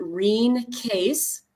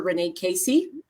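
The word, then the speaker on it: Rene Caisse: developed by a canadian nurse her name is pronounced rheen case and it's r-e-n-e um and some but some people really call her renee casey and essiac is her last name spelled backwards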